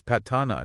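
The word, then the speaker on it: Paṭṭhāna: It has an a sound like in bat. Stop being so American and turning an a into an ey.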